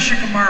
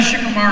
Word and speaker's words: Shikamaru: But I had to go back, and so this one Japanese consultant said, no, you don't say it Shikamaru, you say Shikamaru.